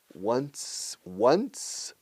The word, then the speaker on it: once: Once every 2 years. 11 escrito. Escrito 11 se pronuncia como el número 1 con sonido S al final. Once. Pero S dura, ¿eh?